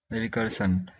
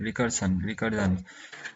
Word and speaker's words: recursion: रिकर्सन, रिकर्जन। तो इसका जो ये होता है रिकर्जन, इसका जो ये है, ये नाउन है, पार्ट्स ऑफ स्पीच नाउन है, और प्रोनाउंसिएशन होता है रिकर्जन।